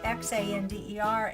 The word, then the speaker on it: Xander: says and I'm Xander which is XA nder and he tells you it's pronounced Xander so I like that